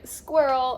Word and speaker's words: squirrel: And this one kind of doesn't sound like rel, it sounds like roll.